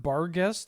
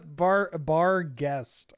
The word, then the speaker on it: Barghest: Hollowborn Barghest?